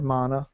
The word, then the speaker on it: Mana: I have always wanted to try the Mana games, or Mana, whichever way you want to pronounce it. Both, I believe, are correct.